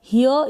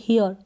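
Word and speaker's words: here: Pronounce कर रहे हैं, तो आप इसको हियर या फिर हियर, आप दोनों तरीके से इसको प्रोनाउंस कर सकते हैं।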